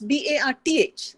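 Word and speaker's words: Barthes: It's B-A-R-T-H. The French philosopher is B-A-R-T-H-E-S, both pronounced Barth.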